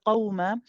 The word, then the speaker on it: قوما: Be careful when you say qawma, because the qaf is heavy, it's very easy to make the wow heavy and say qaw. Ooh, it sounds heavy, right? After saying the qaf is good, keep the qaf as it is, but the wow needs to be light.